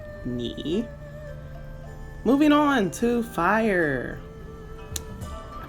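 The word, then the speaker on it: 你: Character for you is pronounced ni.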